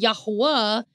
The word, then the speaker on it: Yahuwah: they see the Yod-Heh-Wah-Heh, instead of pronouncing it as you're supposed to, instead of saying Yahuwah, they make themselves say Adonai instead.